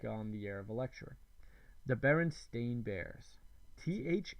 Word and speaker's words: Berenstain: make little jokes about most people clearly remember the sound steam or Stein both would be how Bernstein might be pronounced not Berenstain Tom smile that's a